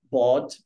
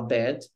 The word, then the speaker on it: bad: Tipo, você trocar o som de E por som de O, bod, em vez de falar bad.